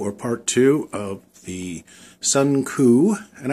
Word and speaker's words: Suncoo: part two of the Sun ku and I say Sun ku because that's the way it's spelled it's not Sun CO it's Sun ku laser engraver and cutter